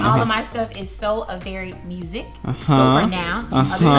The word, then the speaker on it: Soavari: It is SOAVARI, not Avery, not Avari, Avari. Like a very nice day.